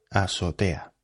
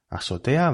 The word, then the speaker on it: azotea: Estar mal de la azotea. Azotea va con Z, con Z. Azotea. Lo que pasa es que los nativos que seseamos, es decir, que no pronunciamos la Z, pues pronunciamos esta palabra así. Azotea.